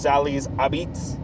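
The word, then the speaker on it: Sally's Apizza: called it's spelled Sally's a pizza but it's pronounced Sal abits and it's like uh we stopped at the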